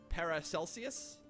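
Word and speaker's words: Paracelsus: uh para calcius is pronounced like celsius par para celsius uh he's an ancient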